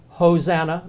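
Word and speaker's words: ὡσαννά: two words to remember Hosanna there's that funny little H sounding accent again ho notice the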